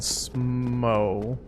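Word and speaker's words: Smough: names are ornstein and smo i pronounce it it's spelled like if it's english it's spelled smoth like rough and see you later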